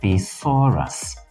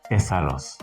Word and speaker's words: thesaurus: the antonyms and synonyms is Urus not tesos it is stressed on the second syllable please take note so